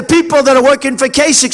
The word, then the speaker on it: Kasich: Even though it's pronounced I-C-H, it's Kasich with a K, like with a K, okay? Think about K.